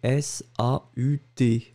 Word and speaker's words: saut: La première version, on écrivait S-A-U-T, le T n'était pas prononcé, c'était exactement la même prononciation, saut.